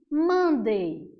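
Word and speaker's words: Monday: semana quer segunda-feira segunda-feira a gente chama de mande mande Então essa é a pronúncia para segunda-feira nota que a tua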